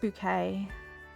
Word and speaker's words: Bucket: Her surname was Bucket, and she was like, well, it's pronounced bouquet.